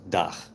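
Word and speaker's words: dag: It's spelled D-A-G, and it's pronounced Dach in Dutch.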